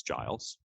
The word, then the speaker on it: Giles: i said to my friend he's like it's pronounced giles and he said well she's the teacher she